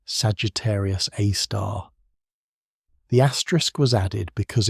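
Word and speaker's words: Sagittarius A*: galactic centre, which they named Sagittarius A star, pronounced Sagittarius A star.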